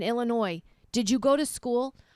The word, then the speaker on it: Illinois: you don't know that the S is silent in Illinois did you go to